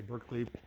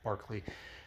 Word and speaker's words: Berkeley: we're at on our Barkley I say Berkeley but the correct pronunciation is Barkley hope you're enjoying this